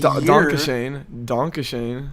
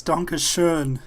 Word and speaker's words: Dankeschön: Donkashane. It's Dankeschön. Exactly. It's something that's that what people I'm- need to get right, because that song in Ferris Bueller's Day Off is so stupid. I don't even know where they got that pronunciation from.